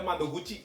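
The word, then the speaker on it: 窓口: Boleh dipikirkan dulu ini kanjinya bacanya apa coba? Gampang ya teman-teman ya. Adalah ada mado guci di sini ya.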